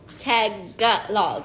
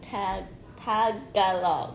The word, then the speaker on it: Tagalog: Today I learned it's tag gut log, right? I've been saying it wrong my whole life. Tag gut log. Tagalog. No. Tagalog.